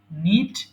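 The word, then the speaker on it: knit: করা নিট নিঠিড need প্রশ্ন হতে পারে যে এখানে তাহলে কে এর উচ্চারণ হলো না কেন আচ্ছা এই যে উচ্চারণ গুলো হয় না এগুলোকে সাইলেন্ট লেটার বলে এটা বিদেশের দেওয়া আমাদের শব্দ সো আমরা এভাবে পড়তে পড়তে জেনেছি আপনারাও পড়তে পড়তে জেনে যাবেন সো নিট মানে হচ্ছে বোনা এখানে কে এর উচ্চারণ হবে না এবং কে এর সাথে যদি এন এর উচ্চারণ থাকে তাহলে সেই ক্ষেত্রে আমাদের কে টাকে বাদ দিতে হয় সো এটা হবে নিট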